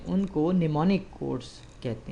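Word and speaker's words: mnemonic: जो कोड्स है उनको निमोनिक कोड्स कहते हैं इसमें एम साइलेंट है और इसको पहा जाता है निमोनिक्स स्टार्ट का जो एम है यह साइलेंट है निमोनिक बल निमोनिक कोड्स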